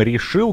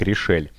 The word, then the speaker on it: RishEEL: И в финале столкнутся, как нам посоветовали в чате, игрок под ником Решил, который, кажется, на самом деле читается как Решель.